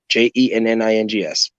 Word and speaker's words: Jennings: Last name Jennings, like the street. Jennings, like the street, the regular way.